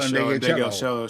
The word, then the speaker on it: Ndegeocello: Yeah, I love Michelle Ndegeocello.